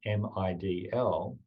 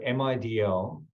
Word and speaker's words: MIDL: If you pronounce MIDL, it sounds like middle, and it's pointing towards the middle way.